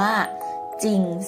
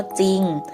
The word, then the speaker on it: จริง: จะ สังเกต นะ คะ ถึง จะ มี จอ จาน รอ เรือ เป็น ตัว พยัญชนะ ต้น นะ คะ แต่ ก็ ออก เสียง แค่ จอ จาน หรือ คำ ว่า จริง และ คำ ว่า ไซต์